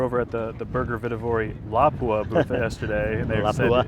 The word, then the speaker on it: Lapua: We were over at the Burger Vitivori Lapua booth yesterday, and they Lapua? said it's supposed to be Lapua. Lapua, yeah, I know. I always say it wrong.